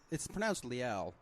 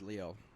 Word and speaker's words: Liel: It's pronounced Liel, and everyone says Leo, and Leo.